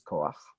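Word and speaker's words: כח: the actual pronounced H, I'm going to hear a little bit of an ah sound before that sound. I have no way to write it. I have to write it after, as if it's to be pronounced after the consonant. So this, even though if you haven't learned the trick, you'd think is kocha, is koach.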